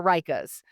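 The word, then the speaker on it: Ryka: And then several people, including the instructor, they wear Reichas. And that's R Y K A.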